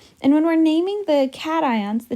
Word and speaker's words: cation: the negative ions so cations are positive ions and so this is not pronounced cations this is pronounced cat ions like a kitty cat right um so don't